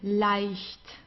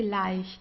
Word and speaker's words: leicht: Then we have the combination EI, das I here, the egg, das I. So it's pronounced the same as the English I, like I do this and that, right? It's just das I. This is how we pronounce it. No matter whether it's at the beginning, in the middle, or at the end of a word, just as with IE, we pronounce it as I, leicht.